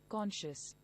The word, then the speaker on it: conscious: The word is pronounced as KAWN-SHUS = Conscious.